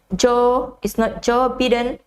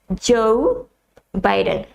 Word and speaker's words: Joe Biden: It's not Joe Biden, it's Joe Biden, because it has O-E next to the J, so you say Joe Biden. Joe Biden. That's the correct pronunciation of the name.